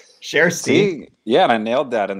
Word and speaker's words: Kjersti: the UH so yeah we learned how to pronounce her name cher see yeah I nailed that in the intros you